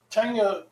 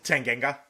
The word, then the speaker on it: Tanganga: people scream for a red card, even though Tangale. It was how do I say his name? Tanganga.